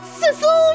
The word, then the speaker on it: Sissel: it's different right sisle did you realize that sisle rhymes with missile we're like the dynamic